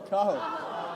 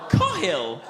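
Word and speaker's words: Cathal: Cahill. Cohil.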